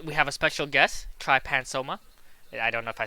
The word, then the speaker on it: Trypanosoma: I mean, like depending on like what you want to talk to, like organisms, like everybody disagrees on how to pronounce their names, really. But usually it's Trypanosoma.